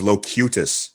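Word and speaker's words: Locutus: too many fan letters the proper pronunciation is locutous like locution that's the whole like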